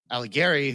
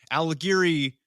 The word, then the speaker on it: Alighieri: Now, coincidence: Alighieri rhymes with Mussolini.